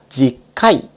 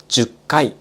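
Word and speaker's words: 10回: 細かいことを言うと、10 回が正しい発音です。しかし、日常で使われるのは 10 回という発音が多い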